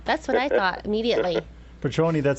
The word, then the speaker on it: Petrone: The last name is Petroni. Petroni. Is it A lot of Italian? people think it's like the tequila. Yeah. That's what I thought immediately. Petroni, that sounds Italian.